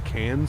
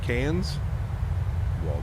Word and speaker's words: Cairns: future yeah it's crazy it's cans for Cairn Cairns cans Jesus if you're going